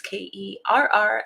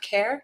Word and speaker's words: Kerr: That's Kerr. And no, it is not pronounced Kerr.